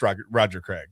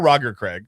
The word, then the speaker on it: Roger Craig: So I watched Roger Craig or Roger Craig, however you want to say it. It's fine. You can, yeah. Legend says you can pronounce it either way, or Legend says that